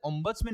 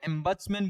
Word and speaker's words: ombudsman: हम लोग क्या बोला जाता है, ओम्बट्समैन नहीं बोला जाता है, नहीं नहीं वही बोल